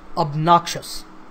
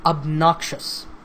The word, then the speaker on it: obnoxious: up knock shuts and the stress is on the second syllable so obnoxious obnoxious so listen to that